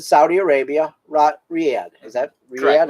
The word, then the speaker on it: Riyadh: Is that Riyadh? Correct. That's how you say it? Riyadh. Riyadh.